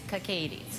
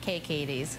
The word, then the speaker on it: KKatie's: It is KKatie's. That is how you pronounce it. It's not KKatie's.